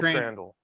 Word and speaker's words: Trandahl: Now, am I pronouncing Trandahl right? I meant to ask you that beforehand. Rhymes with candle. Candle Trandahl.